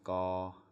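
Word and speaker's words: ก ไก่: Well, there's two parts to this. The first one is gaw. As you probably know, a consonant can't make a sound without a vowel. So this vowel on the right hand side right here is aw, sara, aw. It's called sara. That's the name for vowel. And then this consonant makes the G sound.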